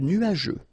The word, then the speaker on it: nuageux: Remember, final X here not pronounced.